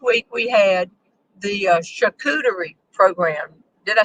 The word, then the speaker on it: charcuterie: material so last week we had the uh chakuteri program did i say it right tony tony's working with the band at home who's trying to fix her phone um yes he did bro charcuterie so we had four or five friends come